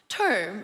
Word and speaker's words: Tom: It's not pronounced Tom, it's pronounced term, okay?